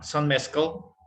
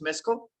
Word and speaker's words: mezcal: Some mezcal. Mezcal. So yeah, is it right pronounced? Mezcal? Mezcal? Yes. Yeah. Mezcal. Mezcal. Yeah, mezcal. Okay, like Spanish, mezcal.